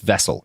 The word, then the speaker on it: Wessel: like that shaped it's spelled Horst Wessel but I think it was pronounced vessel because it's it's German with the with the W's and